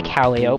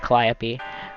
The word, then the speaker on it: Calliope: be a dirk and i i say calio but i know it's pronounced calliope um kind of fighting over the narrative it